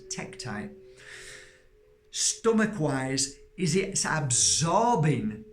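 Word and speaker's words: tektite: deliberately wearing it there because the energy of tacti or techtite as it's um pronounced I always say tacti but it's techtite stomach wise is it absorbing the energy of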